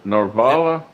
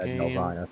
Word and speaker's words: Nelvana: How do you pronounce that Romulan planet again? Norvala? Nelvala. Nelvana.